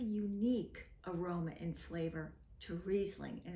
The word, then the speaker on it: Riesling: hi I'm Marta from Corps and screw caps reasing pronounced reing is a superb quality white grape and indigenous